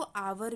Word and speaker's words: our: उसी लाइन में आप दाहिने तरफ देखेंगे तो लिखा है OUR, इसको भी आर बोलते हैं। कुछ लोग इसको आवर भी बोलते हैं, कुछ लोग आर भी बोलते हैं।